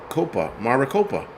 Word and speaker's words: Maricopa: Maricopa.